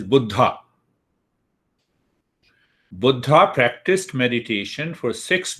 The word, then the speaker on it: Buddha: good buddha you know we we americans say buddha now i cannot speak the the way you guys speak buddha means old so actual pronunciation is buddha buddha practiced meditation for